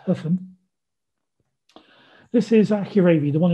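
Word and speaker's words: Höfn: hope for there so that is hoffman i think correctly pronounced huffman this is accurately the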